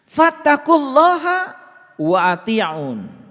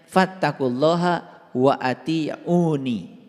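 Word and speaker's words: فَاتَّقُوا اللَّهَ وَأَطِيعُونِ: Fattaqulaha wa ati'un. Nah, ini sebetulnya dibacanya harusnya fattaqulaha wa atiuni. Dibacanya harusnya begitu.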